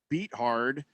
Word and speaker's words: Beathard: I'm a man of pronounced linguistics. It is Beathard.